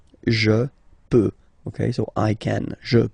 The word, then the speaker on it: peux: Final x not pronounced here, okay? So you get x, but you don't pronounce it, so basically you get the sound peut, je peux.